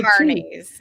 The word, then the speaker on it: Kearney: Just think Carney, like people like no Carneys. It's Carney, like a carnival person. Yeah, the people that follow around Carnival.